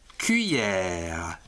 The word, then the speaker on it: cuillère: grave, les, R, E, que l'on prononce cuillère, la cuillère.